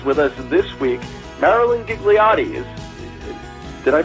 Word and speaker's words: Ghigliotti: from for one but the H throws everybody off and basically that H